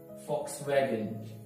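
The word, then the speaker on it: Volkswagen: Next one is ये थोड़ा सा ये क्योंकि F sound देता है, जो V है ये एफ साउंड देता है। Right, फॉक्स वैगन फॉक्स वैगन फॉक्स वैगन फॉक्स वैगन।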